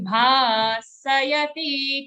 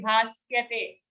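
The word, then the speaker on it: भासयते: Gatan tejo Jagad bhasayate khilam. Jagad bhasayate. Okay, full sound sayate. Don't say bhasyate. It's a full sa.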